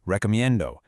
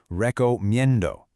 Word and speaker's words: recomiendo: First, recomiendo. The stress is on that min sound. Say it with me, recomiendo. Again, recomiendo.